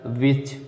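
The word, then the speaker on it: watch: और castle, castle में देखिए यस के बाद टी आया है तो कासल, नेस्लर, विच, ठीक है।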